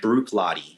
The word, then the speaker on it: Bruichladdich: How do you pronounce Bruichladdich? Bruichladdich.